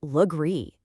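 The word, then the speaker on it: Legare: Or this one, Lagar. That becomes Lree.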